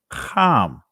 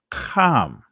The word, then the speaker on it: Ham: pronunciation of it so the ancient pronunciation of Ham's name is calm and you will not